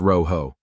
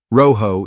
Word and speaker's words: rojo: it's quite simple the magic word is Rojo pronounced Roo that's right Roo is the key repeat after me Roo fantastic but hold on we don't just want